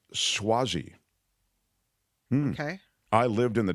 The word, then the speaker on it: Suozzi: York cro film says the name is pronounced swazi okay I lived in